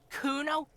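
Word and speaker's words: Cuno: it's Kuno say it right say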